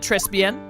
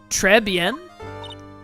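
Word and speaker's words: Trés Bien: This whole mess started on the third of last month and it happened at Trespen or Trebbian. I think it's Trebian. I don't pronounce the S. Treben.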